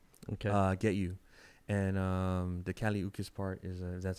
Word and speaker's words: Kali Uchis: Get You, and the Kali Uchis part is that's how you pronounce her name.